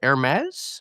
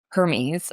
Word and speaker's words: Hermes: The company you wrote about is called Hermes. Am I pronouncing that right? Close. So not not the luxury fashion brand. It's It's pronounced Hermes.